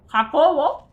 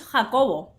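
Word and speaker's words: Jacobo: James, Jacob. Yeah. Hakovo. It's Hakovo.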